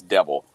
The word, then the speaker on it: de Vil: her name actually means devil cruella de ville that's how it that's how you pronounce it is devil and oh god wow